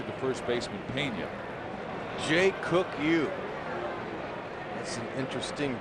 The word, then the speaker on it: Ryu: Jae Weong. That's an interesting pronunciation. I don't know how you get it out of that, but the R is silent.